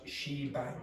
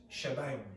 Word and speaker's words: shebang: Now this expression is very informal, and the pronunciation of this is not shebang. It's shebang. Shebang. You have to say this quick.